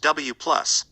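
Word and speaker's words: W⁺: These were called W+, pronounced W+, W, pronounced W-, and Z, pronounced Z0, and each had a mass of around 100 GeV.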